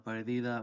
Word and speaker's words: pérdida: So comprar ropa de marca es una pérdida, with the accent on the e.